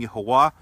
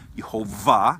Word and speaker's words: Yahuwah: therefore there would be no reason to assume that that when we pronounce those vowels that the pronunciation would have any kind of continental or stoppage of the mouth in when when the name is pronounced therefore I I don't think it would be logical to assume that the name is you hold vah because the book would